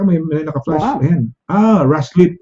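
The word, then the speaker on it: Ruislip: Ruslip. Ano pa? Rice-lip ba? Rice-lip? Or Yeah. How do you pronounce it? Rice-lip, Rice-lip ba? Rice-lip? Yes, South Rice-lip. no? Actually, I used to go. I have friends in Rice-lip, so I know Rice-lip.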